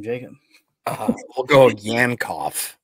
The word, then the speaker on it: Yankoff: We'll go Yankoff. Yankoff.